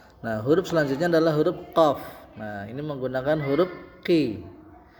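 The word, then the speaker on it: قاف: Jadi tidak dibaca pa tapi dibacanya fa ya. Fa. Nah, huruf selanjutnya adalah huruf qof.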